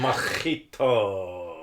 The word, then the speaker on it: mojito: Mojito. That's how you pronounce it. It's like fajitas. Fajitas.